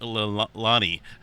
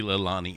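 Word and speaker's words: Leilani: oh that's right there's a correct way to pronounce that definitely not Lani or yeah it's supposed to be lilani okay anyway this get on past this here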